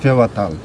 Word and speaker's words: Phewa Tal: So you pronounce this Phewa or something else? Phewa Tal.